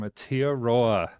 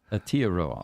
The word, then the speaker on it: Aotearoa: So Thomas Curtis, Kia Ora from Aotearoa. Aotearoa, okay.